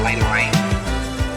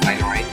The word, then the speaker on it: Lena Raine: And wow, it's made by Lena Raine. I believe that's how you pronounce it. Lena Raine.